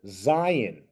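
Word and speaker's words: זין: So when you see this, you say Zion. Think Z. Think the letter Z.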